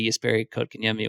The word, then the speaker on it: Jesperi Kotkaniemi: Their PR boss sending along pronunciation. So if you're a goofball United, a goofball American, you can say Jesperi Kotkaniemi with some confidence.